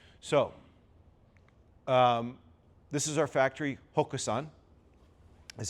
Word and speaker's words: Hoxan: So, this is our factory, Hoxan, is how it's pronounced.